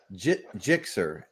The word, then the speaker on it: Gixxer: Here's the right pronunciation. Gixxer. Okay.